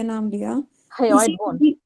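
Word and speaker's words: hyoid: Ma'am पंगे इसका एक बार प्रोनाउंसिएशन कीजिए ना, सिर्फ लास्ट वाला किसका? वन, HY। हायोइड bone, हायोइड bone, okay okay.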